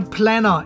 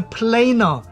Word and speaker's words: planer: and Prince pronunciation police I know it's not a planner it's a planer it's a planer not